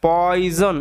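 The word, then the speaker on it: poison: mixed সে মাখিয়েছিল পয়জন এটার উচ্চারণটা ভালোমতো মাথায় রাখবে পয়জন এস এর উচ্চারণটা জ এর মতো কেন হচ্ছে এখনই বললাম ঠিক আছে পয়জন কথার অর্থ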